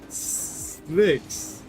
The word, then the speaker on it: Slicks: Slicks. Like multiple slick. One slick is slick and two slicks is slicks.